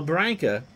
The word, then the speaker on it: Branca: So Branca, whose name rhymes with Sanka, 37 pitches for his first 9.